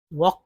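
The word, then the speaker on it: walk: तो देखिए mind less L के में एल साइलेंट है वक वक पढ़ते हैं इस तरह से पढ़ते हैं वक लेकिन लिखेंगे एल के साथ ही वक यहां पर देखिए एल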